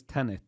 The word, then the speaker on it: Tenet: So the name is Tenet. Yeah, like 10 with an ET at the end.